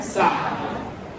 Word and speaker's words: psi: साय। साय, इसको पढ़ते हैं साय। साय देखो, क्लियर है? जर्मन लैंग्वेज में PSI, P साइलेंट रहता है।